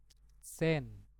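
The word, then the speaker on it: zehn: Jadi sen.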